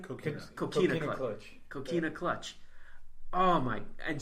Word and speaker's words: Coquina Clutch: Coquina Clutch.